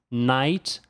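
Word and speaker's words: knight: O KN em inglês tem som de N. Então essa palavra com o K pronuncia-se night e significa cavaleiro.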